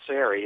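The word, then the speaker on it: Serry: United Nations when I'm going to pronounce it the English manner Robert SII s e r r y that they would come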